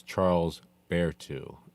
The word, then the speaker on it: Charles Berthoud: So, it's Charles Bearu is how you pronounce his name.